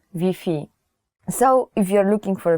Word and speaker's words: Wi-Fi: will not understand you so you have to change the wifi pronunciation even though the word is the same the spelling is the same you have to change wi-fi to vp so if you're looking